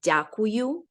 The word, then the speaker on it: дякую: Thank you is дякую. Nice to see you. Can you say that one again? There's a lot of vowels in that one. Say again, the way it sounds. Sure. Thank you. Yeah. Дякую.